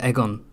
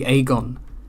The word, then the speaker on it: Aegon: just I can't stand Egon I can't stand AEG should be AE is a it should be aegon aegon Targaryen Egon sounds so oh